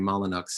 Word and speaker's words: Molyneux: and um edward molyneux i say that he pronounced the name molinx he was the anglo-irish but i always hesitate uh and so i still call him molyneux but uh edward molyneux